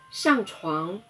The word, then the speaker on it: 上床: 上床，上声调第四声，床声调第二声。上床，上床，上床。